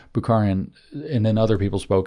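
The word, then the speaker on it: Bukharin: uh Booker and um buaran sorry I said it wrong bukharan and then other people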